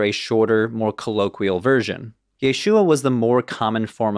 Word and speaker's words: Yeshua: complicated than that and the complication comes from that final syllable the uh part of Yeshua for those of you Hebrew Bible and Aramaic experts in the audience you know I've been playing a bit fast and loose with that pronunciation Yeshua is spelled with four letters in Hebrew and Aramaic yod Sheen VAV and Ein read from right to left and without vowels that